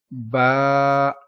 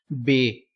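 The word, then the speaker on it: باء: Next letter is Ba. So some people pronounce Be.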